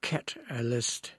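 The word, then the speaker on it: Katalyst: And that Catalyst by the way spelled with a K not a C. K Cat-a-list.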